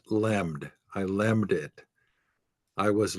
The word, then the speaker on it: LLM: So LLM pronounced lemmed.